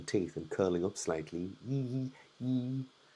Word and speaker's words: yi: Yee, yee. So if we bring the cheeks together, yee. I know my mouth looks a bit ridiculous and is very exaggerated, but that is the pronunciation of this letter.